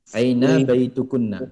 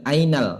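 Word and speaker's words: أين بيتكن: Enggak ada alif lamnya, Pak. Diulang sekali lagi bacanya. Aina bai Aina baitukunna, ya. Aina Bacanya baitukunna. jangan ainal, namun aina saja.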